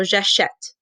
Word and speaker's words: j'achète: So j'achète, the E is silent, right?